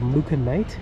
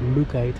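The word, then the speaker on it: mookaite: and vendors thanks i used to call this material mooca knight which is not the way you pronounce it i do believe it's called mookite in luke oh yeah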